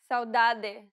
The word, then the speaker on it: saudade: Saudade, saudade. Idioma, idioma. Now pay attention to the T sounds. Sorvete, sorvete. Atividade, atividade. The way you pronounce them varies based on the region you're visiting in Brazil.